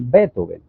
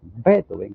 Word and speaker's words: Beethoven: Aquí tenemos a nuestro queridísimo Ludwig van Beethoven, o Beethoven, porque así lo decimos en español. Si lo fuésemos a pronunciar en alemán serían Beethoven, Beethoven, con una Beethoven, pero no importa, podemos decir Beethoven.